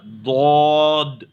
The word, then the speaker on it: ضاد: کے ادا کیجیے گا، ضاد، ضاد، ضاد۔ اس کا تلفظ بھی موٹا ہی پڑھنا چاہیے، پر ہی پڑھنا چاہیے، باریک نہیں آئے گا اس کا تلفظ، تو اسے بھی موٹا کیجیے، ضاد۔ منہ کو گول کر